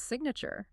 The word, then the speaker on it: signature: But look what happens when we snap a suffix onto that root to build the word's signature. Suddenly the G is pronounced, you hear the G sound.